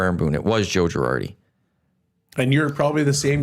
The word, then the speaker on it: Girardi: Girardo? Or Girardi? Girardi. Okay. I stand by. You can't even pronounce his name right.